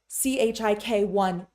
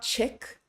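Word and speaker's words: གཅིག: So when we see chik1, it's not chick, it's chik.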